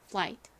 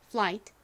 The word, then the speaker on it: flight: 소리를 연결 그래서가 됩니다 flight 발음해 보세요 flight 한 번더 해볼까요 flight 좋습니다 자 같이 적어 볼게요 FL I 그다음에 묵음으로 소리 나지 않는 gh 끝에 소리 나는 t flight 보에 보면 이렇게